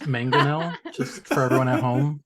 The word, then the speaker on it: mangonel: It's pronounced mangonel, just for everyone at home, in case.